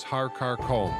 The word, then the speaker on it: Har Karkum: The first mountain is Har Karkum, which some pronounce as Har Karkom.